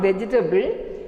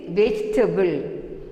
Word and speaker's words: vegetable: It is not vegetable, it is vegetable. Vegetable. We should not pronounce this E.